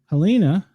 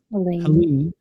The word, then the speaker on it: Helene: Helena, am I saying it right, or is it Helene? Helene.